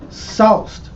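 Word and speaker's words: souse: same thing here it says in Temperance says Sauced which that's how it's pronounced s-o-u-s-e and it says to strike with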